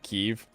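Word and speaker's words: Kyiv: The interpreter pronounced Kiev correctly. I hate when people call it Kiev.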